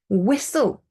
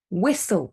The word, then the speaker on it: whistle: I personally say often whistle whistle we don't pronounce the T thistle if you're in